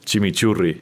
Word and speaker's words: chimichurri: that, and I know I'm not pronouncing the R's right. You got it. You got it. Chimichurri. Can you do it one more time? Chimichurri.